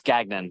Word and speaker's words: Gagnon: pronounced your name right it's uh it's gagnan so you're really close gag okay yeah because it looks kind of French to it is French yeah my uh it's